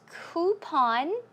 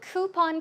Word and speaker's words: coupon: Now, the word coupon can be pronounced two ways, I think. Coupon. I say coupon. Coupon? Yeah, I think that's what you say in Korea. Coupon or coupon. You can choose whichever way.